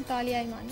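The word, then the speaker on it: Talia Iman: और मेरे नाम की करेक्ट प्रोनाउंसिएशन तालिया ईमान।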